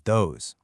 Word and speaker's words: those: All 4 of these words start with a voiced TH sound. It's not a hard D or a soft T. It's a vibrating sound.